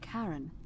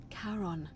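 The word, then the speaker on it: Charon: It's just as you described it, only your pronunciation is a little off. The name you heard wasn't Karen. It was C H A R N. As in Karon, the fairyman of the dead.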